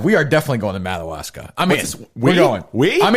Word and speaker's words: Madawaska: Madawaska. How do you say it? Madawaska. Madawaska. Yeah, it's like a Native American. Like Madagascar. Madawaska. Sure. That's how you say it.